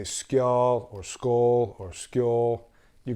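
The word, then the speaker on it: skál: So I've said this word differently, and some people say, it's actually pronounced skull. So I look at the spelling and I anglicize it. So if I say skjol or skull or skjol, you get the deal, right?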